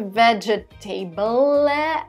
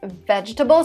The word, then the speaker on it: vegetable: not chopped yep vegetable two letters here are silent listen to me carefully so it's not a vegetable but whatever it's vegetable so the second e is not pronounced and the last is